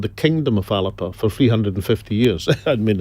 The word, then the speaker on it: Alba: but how can you really differentiate yourself it's alipa no i don't believe it's what aleppo it's pronounced it's garlic for scotland it's scott's galaxy